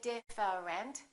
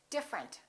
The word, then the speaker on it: different: TR are connected interesting look at this one we don't say different we say different the e disappears different here are a